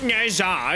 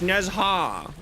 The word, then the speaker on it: Nezha: It's not Nezha, it's Nezha. Yes, I know, thank you.